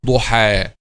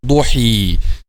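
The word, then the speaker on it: ضحى: This will be pronounced like alif, duha, not duhi.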